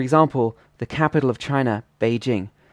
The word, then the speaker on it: Beijing: the capital of China Beijing in English would just be pronounced in a flat tone but in Mandarin it should be a third tone plus a first tone um so for example